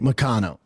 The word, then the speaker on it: Moicano: Here's the thing, MOICANO. That money is... By the way, I like how he mispronounces his name. MOICANO. It's MOICANO, right? It's MOICANO. It's not MOICANO.